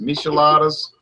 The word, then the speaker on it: Micheladas: But there's a whole line of Micheladas, and like you said, it's pronounced Micheladas.